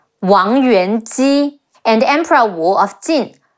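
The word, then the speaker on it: 王元姬: before, and his wife Wang Yuan Ji, Wu Ang Wang Yuan Ji, Wang Yuan Ji, and Emperor Wu of Jin, Sima Yan, Yan, Sima Yan.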